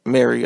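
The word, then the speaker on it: Mari: 2016 Mary that's right Mary I think it's pronounced Mary it's spelled m a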